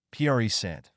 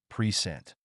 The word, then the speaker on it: present: For example, present as a noun is stressed on the first syllable, present, but as a verb, it's stressed on the second syllable, present.